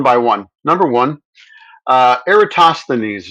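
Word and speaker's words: Eratosthenes: Number one, uh, Eratosineses is the way you want to pronounce that. Erasines, I think, as close as we can get.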